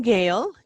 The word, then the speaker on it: Gail: well pronounce my name gail g-a-i-l like sale but with a g and um gail